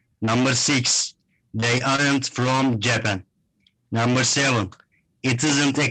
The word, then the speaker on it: Japan: you say japan so you're putting the stress on the second syllable so this is to be uh to be pronounced japan can you say that